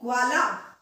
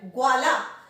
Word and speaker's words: ग्वाला: साथ मिल रहा है, उच्चारण ध्यान से सुनिएगा, ग्वाला, ग वाला नहीं। अगर हम ये पूरा ग होता तो हम बोलते गवाला, पर ये गवाला नहीं है, ग्वाला, ग्व।